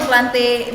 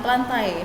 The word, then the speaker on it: Plantae: Fungi, jamur, plante, bacanya plante ya, bukan plantai. Malu nih kalau ustazah kalian keluar plantae misalnya. Bukan, plante.